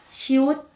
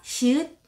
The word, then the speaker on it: 시옷: 자, 지금 보신 것처럼 시옷, 지읒, 치읒은 소리가 비슷하게 나는 자음들입니다. 여러분들이 공부하실 때 주의하셔야 될한 가지는 이름이 시읒이 아니고 시옷이라는 겁니다. Not 시읒. You can pronounce it correct. 시, 옷. 이옷할때 옷입니다.